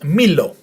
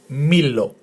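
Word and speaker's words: μήλο: So altogether, the word is Milo in Greek. Milo, with the emphasis on the first syllable. Milo.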